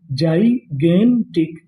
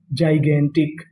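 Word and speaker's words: gigantic: जी आई। इसे यहां पे हम लोग पढ़ेंगे जाई। क्या पढ़ेंगे? जाई। जी ए इसे पढ़ेंगे गे तो मीनिंग क्या बनी? जाइगेंटिक। जाइगेंटिक।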